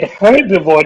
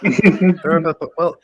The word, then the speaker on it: herbivore: they whenever they said herbivore, they say herbivore, and I always it was so distracting that they removed the H in herbivore. I do that. I'm guilty. Herbivore. Well, H is silent in herbivore.